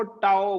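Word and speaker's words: tau: इस सिंबल को टाओ बोलते हैं, इसका प्रोनाउंसिएशन है, this is called as टाओ।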